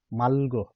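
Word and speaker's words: 맑고: यो दाको ठाउँमा चाहिँ यो ग आएमा ग नगरेर ल गरिन्छ साथीहरु है, ल गरिन्छ। जस्तै माल्गो, यता हेर्नु त साथीहरु, माल्गो, माल्गो भनेको होइन अर्थात नहुनु है। यहाँ पनि इक्ताको ठाउँमा ग को उच्चारण गरिएछ भने यहाँ माल्गोको ठाउँमा ल को उच्चारण गरिएछ र यो पछाडिको चाहिँ साइलेन्टमा रहन्छ, यसको उच्चारण गरिँदैन।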